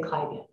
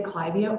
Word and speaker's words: Clivia: if the plant name comes from a person's name you keep the pronunciation of that person's name so you will hear me say clivia however there are no absolute rules when it comes to pronouncing Botanical nomenclature so whether you say clivia or clivia both are perfectly fine the genus clavia is